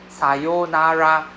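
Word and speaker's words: さようなら: Say, right, you can see the long O sound, right? Right. We don't say Singaporean, they pronounce wrongly. Sonara firstly long O sound secondly R sound don't exist in Japanese right so yeah instead of R is L sound so okay so see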